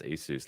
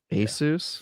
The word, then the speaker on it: Asus: See, Rob says, "Yes, that is the correct way to pronounce Asus." Like Dr. Seuss. Asus.